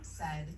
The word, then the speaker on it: said: Let's examine the word said, as in, Mom said to take off your shoes. Said rhymes with words you know, like head and bed.